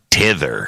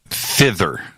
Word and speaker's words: thither: in those thousand shows you say tether hither and tether that you are saying it wrong and uh that it's supposed to be thither now let me explain